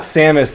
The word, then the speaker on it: Samus: You should look up how you pronounce Samus before I get in trouble for pronouncing it incorrectly on the video that I'm editing currently. What do you mean, Samus? Yeah, exactly. It's actually not Samus that I'm worried about because I have Smash